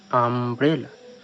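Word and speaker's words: umbrella: মোট কথা, ইউ এর পর যদি পরপর দুটি কনসোনেন্ট থাকে বা তার বেশিও থাকতে পারে, তাহলে ইউ এর উচ্চারণ আয়ের মতো হবে। যেমন এখানে উচ্চারিত হয়েছে আমব্রেলা।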